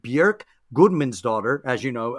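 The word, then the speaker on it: Björk: don't you tell us a little bit about bjork okay fellas first of all i'm going to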